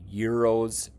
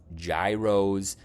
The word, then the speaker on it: gyros: do have a destination dialed in for a Euros restaurant a lot of people think it's pronounced Gyros but it's actually euros and they're very popular up in Chicago area